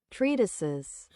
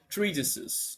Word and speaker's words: treatises: No, how do you pronounce this? Wait, let me see. Translate. Treatises. Treates.